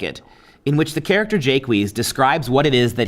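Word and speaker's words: Jaques: we have the character of jake wheeze as the english would have pronounced him and he's a philosopher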